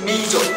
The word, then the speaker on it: Meizu: This time China has launched the Meizu Pro 7, which is very hard to pronounce. It's Meizu, M-E-I-Z-U, which is a flagship device from Meizu company.